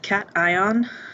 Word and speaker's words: cation: a positively charged ion note that it is pronounced cation notification um the come back to that so